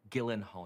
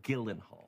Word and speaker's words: Gyllenhaal: No, Gyllenhaal, your name is pronounced Gyllenhaal.